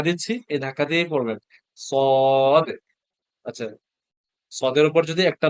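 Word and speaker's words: ص: কি সদ আপনারা আমি যেভাবে উচ্চারণ করি সেভাবে উচ্চারণ করার চেষ্টা করবেন সদ একটু ধাক্কা দিচ্ছি এই ধাক্কা দিয়েই পড়বেন সদ আচ্ছা সদের উপর যদি একটা নুক্তা দেই তাহলে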